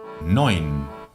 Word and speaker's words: neun: Cuando tengamos el diptongo EU, lo pronunciaremos OI. Neun. Como Sigmund Freud. Eso sí que nos suena, que se escribe Freud, pero lo pronunciamos Freud. Pues lo mismo. Neun.